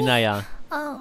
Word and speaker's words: 이나야: 이나야예요. 아니, 이나야. 이니아가 아니고 이나야.